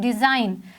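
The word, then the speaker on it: design: चढ़ना नेक्स्ट शब्द इसे डिजाइन डिजाइन में अगर हम जी को निकाल भी दें तो भी वो डिजाइन ही बोला जाएगा क्योंकि जी इसमें एक साइलेंट लेटर है थर्ड वर्ल्ड इसे हम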